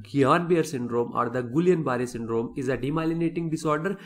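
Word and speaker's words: Guillain-Barré: have the gbs no the pronunciation of gps is little bit controversial i call it as guillain-barre syndrome okay because i read it somewhere the people were calling it as gayanbir and therefore i call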